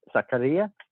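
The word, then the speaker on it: Zakaria: We also have strengthened our midfield with the addition of, let me get his name right, the addition of Zaccaria. Is that how it's pronounced?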